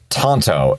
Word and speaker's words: tanto: o n t o well Tanto the blade style is spelled t n t yeah I know that sucks but we're taking a Japanese word and converting it into English so Tanto is the correct way to say it however I'm not going